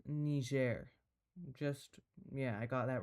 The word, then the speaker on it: Niger: This country is pronounced Niger.